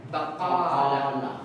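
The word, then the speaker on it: بقالة: So ibig sabihin itong a na to dadagdagan mo pa yan ng isa. Bakala. Okay. Bakala. Yan yung totoong pronunciation ng tindahan.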